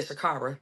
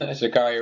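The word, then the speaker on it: Sha'Carri: I say Shakara. I made her name start off all Um, say her name again. Shakari. Shakari Richardson.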